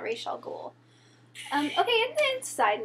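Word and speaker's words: Ra's al Ghul: League of Assassins and she has pronounced to like the correct like Asian pronunciation R Al ghoul like in front of the arrow team like a ton of times but even so they're still calling him raw is all cool because that's Americanized ra yeah and but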